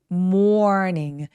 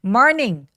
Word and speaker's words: morning: 그리고 아침 발음할 때 얘를 morning이라고 하지 않고요. morning 더 많이 있다는 느낌으로 morning이라고 소리 내면 훨씬 더 정확한 소리 낼 수 있어요. morning 아니고 morning 이렇게요.